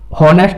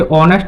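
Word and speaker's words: honest: ऑनेस्ट हो गया, उसे हॉनेस्ट ना पढ़ के ऑनेस्ट पढ़ते हैं।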